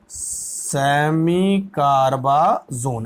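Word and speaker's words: semicarbazone: तो इसको हम बोलेंगे बच्चों, ये सेमी कार्बासाइड है, इसका नाम होगा सेमी कार्बाजोन, सेमी कार्बाजोन। अच्छा नहीं दिख रहा तो मैं जो प्रोनाउंसिएशन कर रहा हूं वो देखो, सेमी कार्बाजोन, ठीक है, समझ में बात आ रही है?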